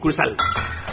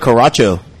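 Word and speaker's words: Curaçao: Curacao. For a while, I was calling it Caracho.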